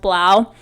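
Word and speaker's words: 3LAU: those that don't know blau is three the number three capital l capital a capital u but he's pronounced blau his full name is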